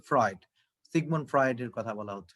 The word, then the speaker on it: Freud: দেখো, although he had broken with Freud, এটার উচ্চারণ হচ্ছে ফ্রয়েড, সিগমুন্ড ফ্রয়েডের কথা বলা হচ্ছে সম্ভবত।